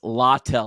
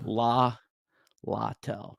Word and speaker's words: Littell: And it's Littell. I actually looked up the pronouncing. Littell.